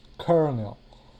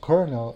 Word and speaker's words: colonel: This word is written colonel, but it's pronounced kernel. Now, the reason it is pronounced kernel is because in Spanish the word is coronel and it's written with an R.